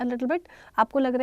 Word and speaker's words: bon: Please make sure this word BON वी आर not pronouncing it बोन, अलग से न नहीं है. Like when we write this word so there is नो न, separate न नहीं है यहाँ पे, there is just a nasal sound बोन, नाक से आवाज़ आएगी बो.